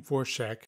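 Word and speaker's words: Dvorak: In P1, I have Anne Vorschach, that's how she pronounces it, as Francesca Sheshka Camonte.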